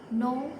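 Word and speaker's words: know: नो में के is silent, bridge bridge में डी इज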